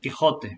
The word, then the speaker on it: Quixote: pronunciation, Quixote.